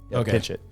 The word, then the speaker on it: Pinchot: I said gford pitchit I think it's pinch like it's you say it fast pinch it pinch it gford pinch it national